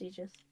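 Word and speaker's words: Aegis: Striker for a second it's pronounced egis my bad I'm G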